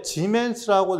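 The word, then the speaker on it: siemens: 자, 또 이제 지멘스라고 읽어요.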